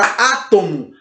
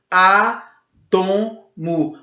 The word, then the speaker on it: átomo: Mas temos outra palavra também, a palavra átomo. Átomo. Você não diz átomo, ok? Você diz átomo.